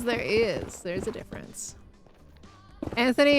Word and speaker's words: Anthony: Anthony and Anthony are pronounced the same in the UK. No! No, find the H. Put it back. Don't lose the H. Some Brits would pronounce it Anony?